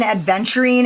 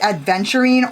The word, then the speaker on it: aventurine: And so there's an amethyst, an aventurine, and a rose quartz. Now, is that pronounced adventurine or aventurine?